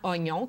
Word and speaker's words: oignon: changement de prononciation avec oignon c'est un mot tellement connu que le i on essaie de l'oublier quand on prononce on prononce vraiment oignon comme grog mais le I est resté c'est une trace historique